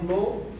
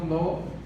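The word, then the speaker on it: לא: A pronúncia é lo.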